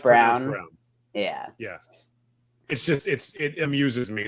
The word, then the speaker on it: Brown: It's spelled Brown. It's not Braun, right? It is Brown. Pronounced Brown.